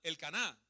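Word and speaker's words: Elcana: El Caná. ¿Sale? Sí, se pronuncia así.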